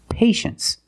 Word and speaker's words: patience: we pronounce it well you see TI e in the second syllable you know the t is pronounced sh sh so this word is patience that's right patience is